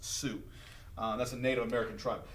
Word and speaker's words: Sioux: It's pronounced Sioux.